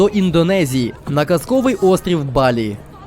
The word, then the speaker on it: Бали: Индонезию на сказочный остров Бали Всё верно не боли а Бали именно так нужно ставить ударение в названии этого острова ведьмаки так вот цель